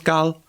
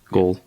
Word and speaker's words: Gaul: how to pronounce it I've had science teachers being like mine James girl and I'm like goal yeah when uh What